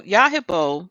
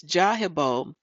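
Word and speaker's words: Yarhibol: So Yahibo from Wikipedia, this comes from there, also can be pronounced as Jahibo, is a Semitic god who was worshipped mainly in ancient Palmyra, a city in central Syria.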